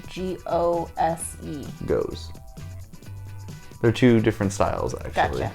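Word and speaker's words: Gose: How do you pronounce G-O-S-E? Goes.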